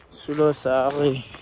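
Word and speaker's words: Sulosaari: What's the first syllable? Su. Lo. Lo. Sa. Ri. Sulo Sari.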